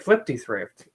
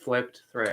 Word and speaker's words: Flipped Thrift: Kind of like Flipty Thrift, but it is not pronounced that way. It's just flipped thrift.